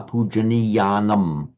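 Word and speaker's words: pūjā: But remember, emphasize that a puja. Okay. I think there's a certain reluctance to make that ah long enough.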